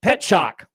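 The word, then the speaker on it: Petrzak: It looks like Petrazak, but it's pronounced Pet Shock. Yeah. And it sounds like Pet Shock Boys.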